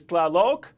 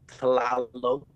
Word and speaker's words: Tlalok: to bring in onto the live desk is Clal Rodriguez. I think I've butchered your first name.